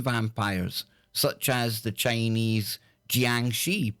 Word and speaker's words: jiangshi: there are Asian vampires such as the Chinese jiangshi pronounced Chong Chi evil spirits they attack people and drain their